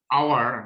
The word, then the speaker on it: hour: Dash hour has passed since he left us. An hour. An hour. Very good. Hour. We don't pronounce N, A, H, and therefore hour, and it sounds vowel, so N is appropriate.